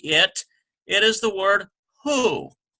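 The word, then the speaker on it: הוא: it is the word who WH o sound transliterated we get hey which is an H sound goes to the next letter is Sharik which is you sound who ends with our left which is silent who means he or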